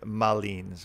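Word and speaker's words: Malines: was named after a city in Belgium named Mullins which is spelled ma Li and II ma Li and es where the mountain was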